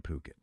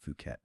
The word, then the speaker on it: Phuket: You're picturing yourself maybe in a stunning villa in Phuket. And yeah, remember it's pronounced P O K E T, not Fuket.